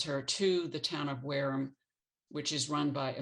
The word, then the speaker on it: Wareham: town of whereum england it's pronounced whereum um and i wrote